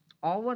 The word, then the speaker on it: hour: तो एन क्यों, correct answer N क्यों है, एन इसलिए है क्योंकि HOUR, ओवर में हमेशा याद रखना एच नहीं पढ़ा जाता, साइलेंट है, ओ पढ़ा जाता है, और हमें पता है EEIOU, ठीक।